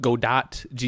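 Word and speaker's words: Godot: no there's another one you might have heard it called God do go oh yeah God dot yeah yeah yeah yeah I'm I'm pretty sure the pronunciation is gdo it's one of those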